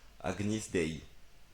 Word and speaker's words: Agnus Dei: Ah, ça se prononce Agnis. Agnis Dei.